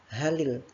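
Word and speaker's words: هَلِ: Hal, ketika sudah bertemu dengan alif lam, dia bukan bacanya hal, tetapi ditambahkan kasroh. Halil, seperti itu.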